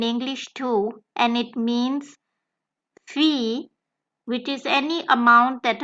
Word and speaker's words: Fee: The same vowel can occur twice in a German word together, as in the example Fee. Now, interestingly, you have seen this word in English too, and it means fee, which is any amount that a person gets